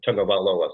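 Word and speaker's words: Tagovailoa: So sometimes that's a little bit different pronunciation with things, such as Tungavailoa, which doesn't even have an N, but we say Tungavailoa.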